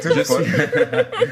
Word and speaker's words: Ntumfon: vous prononcez ça bien, hein, I'm Toumfon. telling you. Toumfon.